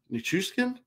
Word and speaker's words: Nichushkin: I think I said Chushkin? That one. No, I didn't. I said it wrong. Nichushkin.